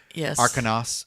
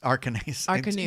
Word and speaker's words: Arcanus: It's spelled A-N-U-S. And it's Arcanos. Arcanus. Yeah, because we kept Arcanue.